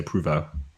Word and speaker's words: Prevost: You pronounce Provost like that, Provost, but if you're saying it in the proper French way, you say Prouveau.